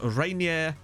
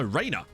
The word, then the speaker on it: Rainer: So the best player in the whole lot is Rainier. No, Rainer. Not Rainier. Rainer. Rainer Fury.